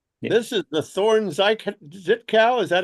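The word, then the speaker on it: Żytkow: This is the Thorn Zitkow. Is that how it's pronounced? Thorn I'd say, being Polish, I'd say Żytkov.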